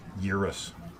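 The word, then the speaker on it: Gyruss: play gyrus. Urus. Is that what uh Mike called it? Gaming Road Warrior. The G is silent. Urus controls and four-way.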